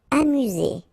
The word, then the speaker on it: amusé: Amusé, okay, accent aigu at the end, so E, Z, amusé.